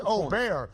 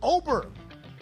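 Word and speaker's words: Åberg: aberer and I think many have learned that it's at least o ber we got to figure out the pronunciation Oar himself says Oar but some people still stick with oberg yeah my Donnie right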